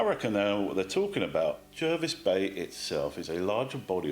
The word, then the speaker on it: Jervis Bay: to point out that jervis bay is pronounced the way it is written with an er at the start not an r it was named after